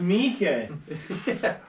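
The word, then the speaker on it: Miike: It's just pronounced Mike. Bro, I thought you literally just made that. No! No, he just mispronounced it.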